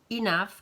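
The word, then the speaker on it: enough: too many trop inaf attention à la prononciation inaf qui signifie assez ça va ça vous allez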